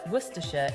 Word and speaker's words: Worcestershire: werer first let's break it down the word werer is pronounced as W yes it looks nothing like